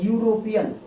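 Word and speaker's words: European: अब इसका उच्चारण करेंगे तो यूरोपियन, क्या होगा ये, यूरोपियन, यूरोपियन। अब देखिए इस यूरोपियन शब्द का पहला जो यानी प्रथम ध्वनि है वो हिंदी का क्या है, व्यंजन है, हिंदी का व्यंजन है,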